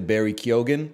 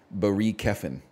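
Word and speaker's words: Keoghan: for me because then I can get to Barry kogan but then I can't get too far from Gary kogan okay or from Barry kogan which is not his name apparently his name is actually pronounced B Keen um Elvis BOS lurman I can work with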